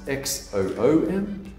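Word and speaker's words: Xoom: money transfer service called zoom it's pronounced xom i don't know why or when we started pronouncing x's as z but apparently we do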